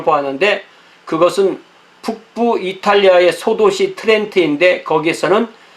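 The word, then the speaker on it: Trent: 트렌트. 네. 트렌트. 이 영어에서 T하고 R이 붙으면 그 T라고 발음 안 하고 치 이런 발음이 나오죠. 크리스마스 추리.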